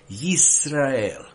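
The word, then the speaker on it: ישראל: you want me to pronounce it in Hebrew, Yisrael.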